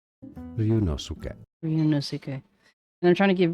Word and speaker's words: Ryunosuke: In literature, too many people mispronounce Ryunosuke. Ryunosuke.